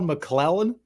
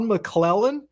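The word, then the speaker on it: McLellan: diligence you got to do your due Todd mlen did I finally say his name right yeah you did that was very good Todd mlen come on man all this guy all this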